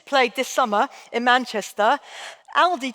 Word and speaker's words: Aldi: this summer in Manchester, Aldi changed the name of the store to reflect the northern pronunciation. All the northerners are going to kill me, but I'm going to try it. Alde, you can shoot me later.